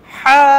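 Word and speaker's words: ح: হা, ভেতরের যে গলার কণ্ঠনালীটা, এটা গলার পেছন সাইডে একটু চাপ দিয়ে হা বলেন।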